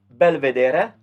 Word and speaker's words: belvedere: the next one is i'll pronounce it the italian way belvedere so that would be